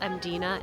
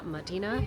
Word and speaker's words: Mdina: And yes, it's pronounced Mdina and Madina.